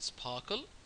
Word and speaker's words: SPARQL: stand for you know Sparkle obviously is pronounced Sparkle you know she says